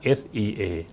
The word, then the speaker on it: SEA: อะไร นะ ครับ sca C เรา ไม่ อ่าน ว่า C นะ ครับ เรา เรา อ่าน ว่า Sea นะ ครับ โดย สรุป นะ